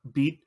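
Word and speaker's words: Bede: over to the the the cocky rival is pronounced beat I believe his Japanese name is also beat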